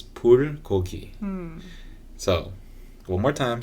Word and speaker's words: bulgogi: it, but it's like bulgogi or something. How do people say it? Do you know? Bulgogi. Yeah, there you go. It's the hard G, the hard B.